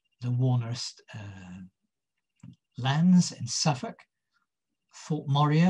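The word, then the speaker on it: Thorpe Morieux: Warner lands in Suffolk: Thorpe Moray or Thorpe Moreau, as it might possibly be pronounced in Suffolk dialect, Kettlebaston.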